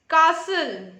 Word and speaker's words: castle: Castle. Say castle. Listen. Listen. Christmas. Christmas. List 2. Just. Just. Lost. Mr. You will notice that in list 1, the T is silent.